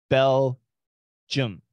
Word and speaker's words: Belgium: always a problem so the American pronunciation of the country Bell Jim not Belgium Bell Jim Belgium Belgium